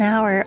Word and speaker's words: hour: Silent H too, like an hour.